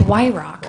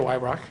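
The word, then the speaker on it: Weyhrauch: your last name okay it's y rock but it's spelled crazy it's w-e-y-h-r-a-u-c-h so what were you gonna guess no i was gonna say a white rock oh of course a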